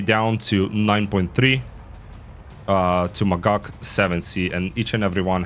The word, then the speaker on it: Magach: you go why is it called a magak magak is the right from the Hebrew word um